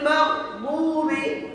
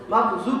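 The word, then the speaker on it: مغضوبِ: এবার উপরের দাঁতের ঘোড়ার সঙ্গে উপরের মাড়ির সাথে উচ্চারণ হবে এটা কি হবে বলেন তো দত দয়া গাইরিল মাগদুবি গাইরিল মাগুবি আমিন আমরা অনেকে এবং দেখা যাচ্ছে বড় বড় ক্বারী সাহেব আমাদের ভিতরে মাগজুর পড়ি মাগজুর পড়লে জয়ী হয়ে যাবে অর্থ চেঞ্জ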